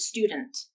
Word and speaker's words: student: not a t sound i'll say the word student with nasal plosion and i'll say it with the stop t and then without any stop to the airflow which means no t sound at all listen to the difference